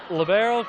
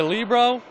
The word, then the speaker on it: libero: the truth there's actually there seems to be no set pronunciation people say labero people say Libo it really seems to be up to the person saying it they so yes the